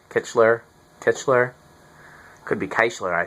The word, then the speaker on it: Kichler: I'm pronouncing that right kitler kitler could be kler I suppose um Everybody I've always talked to at lighting showrooms and things have said kishler but I still can't